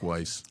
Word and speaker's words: Weiss: I think that's how you pronounce his last name. Yes, Mark Weiss.